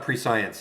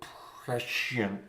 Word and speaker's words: prescient: I know it's not pre-science. It's a hard word to pronounce. I know what prescient is.